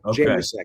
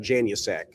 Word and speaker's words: Januszczak: Januszczak. It's not a hard U. It's just kind of Januszczak.